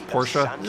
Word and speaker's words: Porsche: Porsche and I know I keep I keep interchanging between saying Porsche and Porsche I think the proper way to say it is Porsche excuse me nearly there